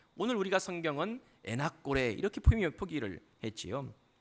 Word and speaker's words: 엔학고레: 엔학고레 라고 기록하고 있습니다 정확하게 말하면 n 타코 레 라고 읽어야 되는 건데 오늘 우리가 성경은 엔학고레 이렇게 프리미어 포기를 했지요